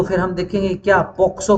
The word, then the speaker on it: POCSO: अगर इसके through establish नहीं है तो फिर हम देखेंगे क्या पॉक्सो के थ्रू है, पोस्को गलत प्रोनाउंसिएशन है, ठीक है ना, पोक्सो बोला जाता है, POCSO, ठीक है ना,